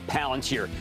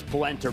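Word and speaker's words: Palantir: Uh it it's I'll tell you it is better to buy uh Palanteer, also known as Palenter by people who don't know how to pronounce it.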